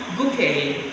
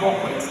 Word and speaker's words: bouquet: You can also say a bouquet of flower. Not bouquet, take note of that.